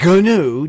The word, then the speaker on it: GNU: So I'm mispronouncing it by English standards, but they want to call it GNOME and GNU, GNU.